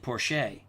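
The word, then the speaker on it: Porcher: limping off the field Robert I think you pronounce it Porsche is now in that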